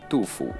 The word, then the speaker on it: FUDU: the FUDU Verse 1, even though it's actually pronounced as DUFU if you really want to pronounce it right, but I'm keeping it as FUDU for the rest of the video.